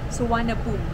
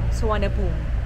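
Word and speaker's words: Suvarnabhumi: sar hindi sarn boom San boom International Airport here in bangkok thailand sakit ng ano ko tenga ko guys so correct pronunciation ng airport Yes swan boom suan boom International Airport y time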